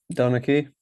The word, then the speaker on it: Donnachie: Donnachie.